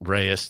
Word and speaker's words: Reyes: That Jalen Reyes, that's how you pronounce his name. Jalen Reyes. Reyes, thank you.